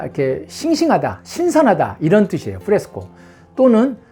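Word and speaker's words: fresco: 프레스코, 스펠링이 F-R-E-S-C-O, 그래서 프레스코.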